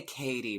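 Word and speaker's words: Cady: lines the whole time is it Katie or caddy Dina Dina they do say Katie but it's spelled caddy with with one D with one D with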